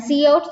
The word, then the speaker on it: cout: And cout just pronounced as a cout.